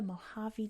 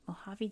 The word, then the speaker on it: Mojave: This is the Mojave Desert, which is how we say it. Mojave Desert, where we can find Death Valley.